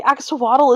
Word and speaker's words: axolotl: That's because you don't know enough Nahuatl. I don't know enough, but the axolotl is the greatest animal ever. It is. But if you want to say it like a real Aztec, you have to say axolotl.